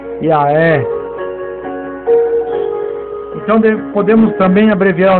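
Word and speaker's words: יה: a no nome i o h final é pronunciado como H aspirado por isso a pronúncia desse nome é ya então podemos também abreviar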